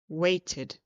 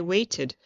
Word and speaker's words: waited: When something ends in a D or T sound, we add an id ending for the ED. So, for example, weighted. We pronounce it like two pieces, weighted, weighted.